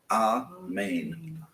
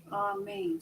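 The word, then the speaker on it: אמן: Amen. So you are getting There's our syllable. Ah for the first one, main for the second.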